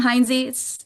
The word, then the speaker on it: Heintze: So I would say, well, I'm Heintze.